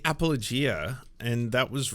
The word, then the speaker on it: apologia: formal written defense that's the exact opposite appal apologia you are looking at Julian's pronunciation guide where we look at how to